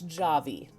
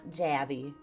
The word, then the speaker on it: Javy: I think it's good pronunciation it's Javi okay it's not jabby or JV guys coffee and Java Java had a baby Javi so they want to make sure you pronounce it right which makes sense tone